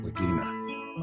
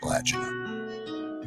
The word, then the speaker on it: Lagina: Some pronounce it Lagina, others say Lagina.